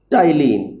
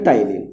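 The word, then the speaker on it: ptyalin: Salivary amylase is technically, salivary amylase is also known as टाइलिन। P silent है, टाइलिन।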